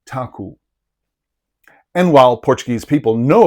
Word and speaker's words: Taco: a city is called Taco. But first of all, know that an unaccented letter O at the end of a Portuguese word makes an U sound.